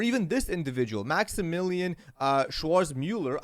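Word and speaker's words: Schwarzmüller: this individual, Maximillian uh Schwarz Mueller. I won't even pronounce his name. I'm sorry if I mispronounce it. Yeah, it's Schwartz Miller.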